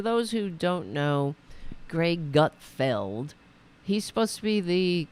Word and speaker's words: Gutfeld: fly so for example the Greg Gutfeld is that how you say his name yeah Gutfeld I mean what a name